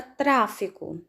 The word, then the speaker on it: tráfico: Na palavra tráfico, tráfico. Sílaba mais forte, trá.